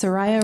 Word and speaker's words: Soraya: It's Soraya, rhymes with Mariah.